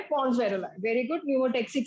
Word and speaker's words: pneumotaxic: Very good, न्यूमोटेक्सिक centre, P silent है।